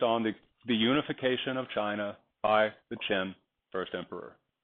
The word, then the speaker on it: Qin: chin look at the look at the word and hear it chin add an a to it and you have chinna pronounce an i differently the way we do and you have China China is named after